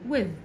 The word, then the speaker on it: with: حرف ال W و و كأنه حرف الواو كده، وال I وبعديها ال T وال H بنطقها كأنها صوت حرف الزال. with I walk to school with my mom مع مامتي at 8 o'clock الساعة 8.